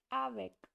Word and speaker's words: avec: So the last consonant is C. So it will be pronounced completely. Avec.